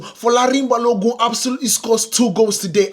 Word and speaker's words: Folarin Balogun: Let's say it again so you guys can absolutely understand how to pronounce it. It is Folarin Balogun. Folarin Balogun absolutely scored two goals